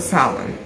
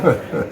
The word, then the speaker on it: salmon: Now, don't come looking for salmon. No Don't look for salmon. salmon. Salmon. Sorry, I just pronounced the L.